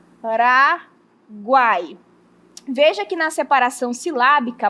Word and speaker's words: Paraguai: Na hora que eu pronuncio, um som é mais fraco, outro som é mais forte e outro som é mais fraco. Vou pronunciar para vocês perceberem comigo, ó. Paraguai, o U fica mais fraco, o A fica mais forte e o I fica também mais fraco.